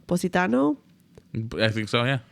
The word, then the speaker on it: Positano: Positano, I think.